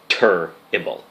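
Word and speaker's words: Turrible: my name is Dr turble that is Doctor and the word terrible but spelled with a u instead of an e right after the T So doctor tur ible so that name came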